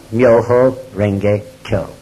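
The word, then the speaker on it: 妙法蓮華経: Sutra in Chinese characters, actually pronounced with Japanese phonetics. As you know, the Japanese language uses Chinese characters. The pronunciation of those characters in Japanese is Myoho Renge Kyo.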